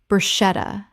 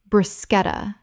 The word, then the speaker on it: bruschetta: Common mispronunciation, brushetta. Correct pronunciation, bruschetta. The CH makes a K sound in Italian, and this word kept its Italian pronunciation in English.